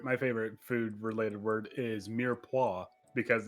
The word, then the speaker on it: mirepoix: food related word is mirepoix because it's it's not it looks like it's pronounced meyerpox yeah French language even